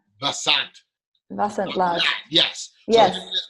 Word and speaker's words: Vasant: Vasant Lad.